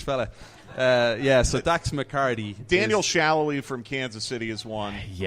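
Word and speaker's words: Salloi: Daniel Shallowy from Kansas City is one.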